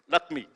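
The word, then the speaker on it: LAccMI: as the lakmi scheme I thought first it was lakmi but it's spelled a little differently lakmi right and uh that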